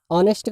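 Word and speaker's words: honest: ऑनेस्ट का पहला अक्षर एच है, लेकिन आप इसको ऑनेस्ट पढ़ते हैं, और ऑनेस्ट में पहला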